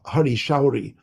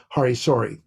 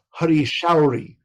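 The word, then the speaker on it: Hari Sauri: shruti kirti or you know uh or a hari showri by the way that is the proper pronunciation pronunciation of his name there's no such thing as hari sorry so i'm sorry about that but it's hari showery it's showery so beautiful name so you know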